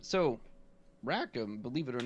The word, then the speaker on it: Raakam: do you pronounce it i pronounce it rackham that doesn't mean that's